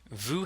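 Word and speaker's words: vous: in French means I Vu has a silent S at the end the vowel sound is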